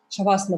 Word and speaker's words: шавасана: Шавасана произносится через букву Ш, там нет буквы С, именно шавасана.